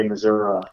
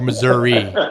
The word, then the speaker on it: Missouri: But yet you denounce the pronunciation of your home state, Missouri, as accepted by most people who live there.